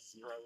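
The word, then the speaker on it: Xero: There's another shoe called Zero, spelled with an X.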